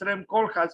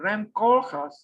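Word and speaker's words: Koolhaas: the nose and then how do you pronounce REM corjas because it's not it's not around as most people pronounce it's Ram kolhas still with a double O it Still Remains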